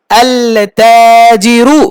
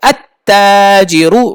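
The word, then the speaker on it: التاجر: তারপরে কি, আল তাজিরু হয়েছে, না না হয়নি, আল হবে না, আত হবে, আত তাজিরু, কারণ তা শামসি, তা কি শামসি হরফ, আত তাজিরু।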